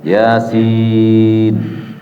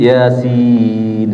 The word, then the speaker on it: Yasin: Yasin. Dibaca ya-nya 2. Nggak boleh lebih, Pak. Itu sepakat ahli tajwid. Yasin. Sinnya 6.